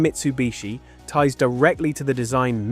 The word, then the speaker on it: Mitsubishi: Interestingly, even the name Mitsubishi ties directly to the design Mitsu means three, and heii, often pronounced bishi when combined, means water chestnut, a